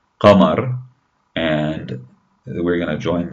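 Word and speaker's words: قمر: Notice how you have that ra sound at the end. Qa, ma, r, qa, ma, R, qamar.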